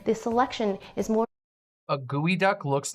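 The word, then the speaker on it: geoduck: very lovely the test okay there we go Geo duck but it's pronounced gooey duck it's actually comes from a Nisqually word which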